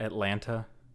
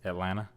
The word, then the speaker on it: Atlanta: It's not Atlanta. It's Atlanta. Atlanta. You know, like you don't really pronounce the T part.